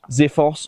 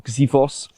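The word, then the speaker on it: Xiphos: This is a Zifos or Zivos as a little bit more of an accurate pronunciation.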